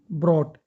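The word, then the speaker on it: brought: ये है bring, ब्रॉट। टी से पहले जी एच साइलेंट होते हैं, ठीक है? Bring, ब्रॉट, ब्रॉट। टी की हल्की सी आवाज आएगी बस।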